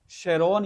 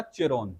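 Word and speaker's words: Charon: है जिसका नाम है शेरोन या चेरोन। जो आ जाए जो लिखा हुआ मिले दोनों प्रोनाउंस किया जाता है इसको। ठीक है? स्पेलिंग है चेरोन। प्रोनाउंस करते हैं शेरोन।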